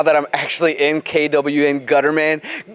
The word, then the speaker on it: Gutterman: I'm actually in kwn Gutterman gutter man I gotta say it like that I have now been